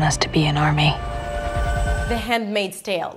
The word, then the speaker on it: The Handmaid's: The D is a held D, you don't release it.